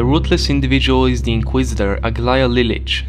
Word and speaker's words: Aglaya Lilich: The ruthless individual is the Inquisitor Aglaya Lilich. That's how it's in Russian, that's how I'm pronouncing it.